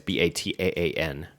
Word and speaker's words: Bataan: It's Bataan.